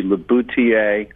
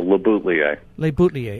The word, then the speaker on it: LeBoutillier: French it should be labouti but I put the L's in there because we Americans say things better that way so labuta leer okay I'm originally from